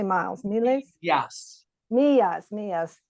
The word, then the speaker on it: millas: Millas, 4 millas. Yeah, it's a double L in Spanish instead of a single L.